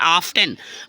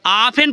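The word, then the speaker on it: often: reading करते हैं तो क्या पढ़ते हैं ऑफ्टन बट वो गलत होगा फ्रेंड्स ऑफेन पढ़ेंगे आप टी क्या होता है टी हो जा रहा है आपका साइलेंट टी आपका क्या हो रहा है टी आपका साइलेंट हो गया जैसे ऑफ एन नेक्स्ट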